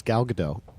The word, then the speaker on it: Gal Gadot: works really well first of all gal it's gal gadot I actually on the way over here I